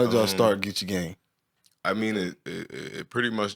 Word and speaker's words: Geechee Gang: That's correct way to say it, Geechee Gang.